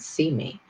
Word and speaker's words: CIME: company even though we abbreviate it to cime and we pronounce that see me but that's the whole